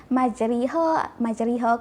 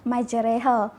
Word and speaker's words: majreha: Okey, kadang-kadang bila orang tak tahu cara bacaan ni, dia akan sebut majriha ke majroha ke, tapi semua tu salah. Kataan yang sebenar yang betul adalah majreha.